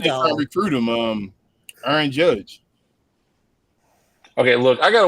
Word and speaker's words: Aaron: Okay, look, I got to work on you saying the word earn. My name is Aaron. Okay, so when you say other people earn, I need you to start pronunciating my name right.